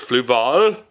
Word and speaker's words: Fluval: I've been pronouncing Fluval wrong all these years. It's Fluval.